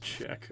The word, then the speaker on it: Czech: It's pronounced Czech.